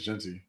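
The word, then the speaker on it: Jeanty: Travis Hunter and Ashton gy Genty gy I don't know I think it's Genty that's why I he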